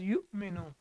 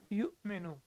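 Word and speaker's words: يُؤْمِنُ: are reading it as you menu you may know why because whenever hamza is sakin we have to pronounce it with a small twitch or with a small jerk so it becomes you menu the rule of the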